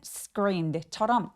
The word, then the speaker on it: screamed: screamed 할 때 S 소리 뒤에 크 소리가 뒤따라오게 된다면 여기는 screamed처럼 약간 된 소리로 내는 게 또 미국식 발음의 특징이에요.